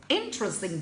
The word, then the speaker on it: interesting: topic of interesting yeah when you say it must be interesting interesting the stress is given under first one interesting again I don't